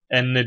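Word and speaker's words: أنّ: Fi harfi cerir ardından Hemze nun geldi Enne diye okundu inne diye okunmadı burada anlatılan daha ayrıntılı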